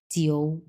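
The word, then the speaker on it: jiu: এটাকে আমরা বলবো জিও। জিও মানে হচ্ছে নাম্বার 9, জিও।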